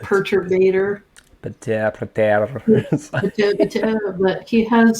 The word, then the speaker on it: Perturbator: I always say the name wrong, but because I'm not French, the French way to say it is perturbateur or But perturbator.